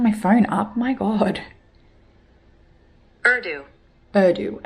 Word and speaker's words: Urdu: Urdu. Urdu. Okay, that's how I thought, but I didn't know if like how it's written is how it's pronounced.